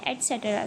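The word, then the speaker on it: etc.: इसको प्रोनाउंस करते हैं एटसेट्रा से, ठीक है।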